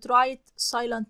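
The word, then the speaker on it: right: انعطف يمينا يعني رايت وبرضي اش في كلمه رايت لا تنطق اسمها ايه بقى رايت را انعطف يمينا يعني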